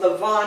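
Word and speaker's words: Lavan: this is spelled l-a-v-a-n you just kind of think of it like Lobby in Los Angeles and then v-a-n being the Vans okay the Vans okay but it's Lavon so here we have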